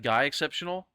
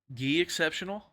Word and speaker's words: GUI Exceptional: Yeah, someone said the way you pronounce his name is GUI Exceptional. That's what someone told me. So I don't know. I thought it was like Guy Exceptional. But someone Gaucho, you're from Brazil, so you probably know what it is. So how do you say it? How do you say it? Do you say it like Guy Exceptional? or Gi. Gi exceptional?